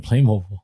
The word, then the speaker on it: Playmobil: And I'm still selling Playmobil. Like it's wild. How is somebody called in and actually told us how to pronounce it?